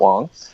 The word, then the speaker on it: Wang: incorrectly all these years it's spelled Garrett Wang but it is pronounced Garrett Wong he did a comedy